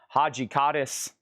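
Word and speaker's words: Hadjidakis: And then I did, I think George Haji Kaddis. I was trying to figure out how to pronounce his name last night. I Googled it and everything. It's Haji Kaddis.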